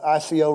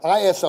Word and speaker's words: ISO: That kicks us in our, I'm not going to say it right, ICO rating. Did I say that right? ISO. I knew it was close, ISO rating.